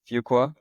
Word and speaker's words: Fuqua: to say it wrong, but I think it's Fuqua. Is Yeah. it Fuqua?